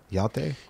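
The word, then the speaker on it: Hjalte: know wipe your mouth how do you pronounce his name h y yal yal halberg big fan he kills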